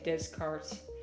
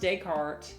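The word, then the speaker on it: Descartes: I was about to say Descart. I was not. I know it's pronounced Decart.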